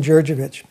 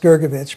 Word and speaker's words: Gurgevich: I'm Dr jurovich sometimes pronounced gergovich but by default my